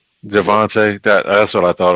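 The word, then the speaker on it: Javonte: Javvante. Javvante.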